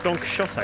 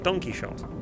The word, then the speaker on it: Don Quixote: No, according to the foreword in the novel, the way that 17th century Spanish people pronounced the X was a sh sound, so it's shot.